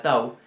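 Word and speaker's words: תו: Para que se den una idea la vamos a comparar con la que está al final del alfabeto, que es la tau, y que sería nuestra T.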